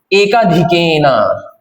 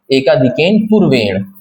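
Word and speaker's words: एकाधिकेन पूर्वेण: अब next method आता है एकाधिकन या एकाधिकन सही प्रोनाउंसिएशन एकाधिक पूर्वेन।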